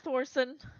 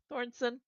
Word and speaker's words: Thorson: Um they will say well Mr. Thorson Thornson Thorson I said it right the first time.